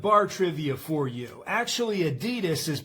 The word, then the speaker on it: Adidas: Actually Adidas is pronounced adidas.